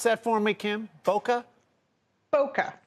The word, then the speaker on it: Bokeh: Bokeh. Just Bokeh. Plain old Bokeh. Like the Florida town.